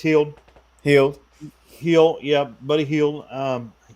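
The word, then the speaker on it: Buddy Hield: Let's got go Buddy to Healed, or Hild, I don't know how you pronounce it. Healed or Buddy Hild. Hill. It's Hill.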